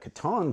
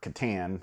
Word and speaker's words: Catan: And because 1995 is, of course, the year that Catan comes out, or Catan, however you want to handle that. Pronunciation is up to you.